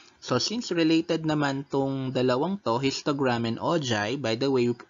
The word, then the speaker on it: ogive: since related histogram and ojai by the way we pronounce it as ojaib not o give so again uh example